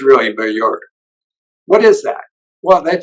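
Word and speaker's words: Maillard: don't pronounce that correctly it's a French word but but I'm from Philadelphia originally so we pronounce it malard but it's really mure what is that well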